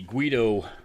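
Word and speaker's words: GUITTO: showed it this is the guido I think is how it's pronounced GUI t t o is the brand this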